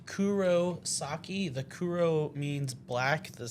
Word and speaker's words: Kurosaki: Kurosaka. It's Kurosaki.